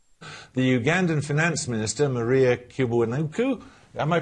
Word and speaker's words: Kiwanuka: Y sex chromosome, the Ugandan Finance Minister, Maria Kiwanuka, am I pronouncing it correctly? Kiwanuka.